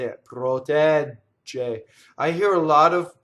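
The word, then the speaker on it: protegge: This double G is like a DG, right? So a same rule applies as the double T to form it. I don't do two G's. I do the long A, right? I go up to the D and then I don't say it. Protɛgge. And then I say like a J, right? Like the just, like in English, just, right?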